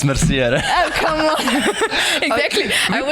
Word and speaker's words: Mercier: No, it's actually Merci. You know. Hey, I know this guy in person, so it's Mercier.